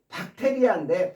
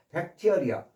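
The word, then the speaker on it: bacteria: 엔티 엔티가 붙어 있고 엔티 박테리아인데 박테리아라고 어 읽지 마시고 발음을 백티어리어 백 이어 이어 이어 이어 티어리어 티어리어 베티어리어 앞으로 발음하실 때는요. 물론 우리 말로는 박테리아 속시원이 다 알아듣습니다만은 어 원 영어식 발음은 베티어리어입니다. 베티어리아 베티어리어 베티어리어 이렇게 발언하셔야지 박테리어 박테리어 이렇게 발언 놓으시면 안 됩니다.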